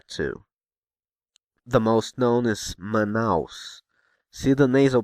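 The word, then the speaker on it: Manaus: nasal pronounce here manow manouse manouse manouse sure there's no te here as there is in s Paulo so is the a sound nasal it's because it's placed just before a nasal consonant n do you remember the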